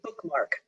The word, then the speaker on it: BkMk: title is that correct you know they pronounced a bookmark okay that's so much